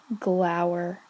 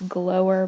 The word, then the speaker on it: glower: Glower. You might pronounce this glower, but I've mostly heard it pronounced glower.